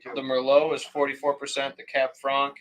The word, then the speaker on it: Merlot: a red blend of like cabs Cs and Mer tell her the split the split uh you got to pronounce it right the Mero is 44% the cab Fran is 31% and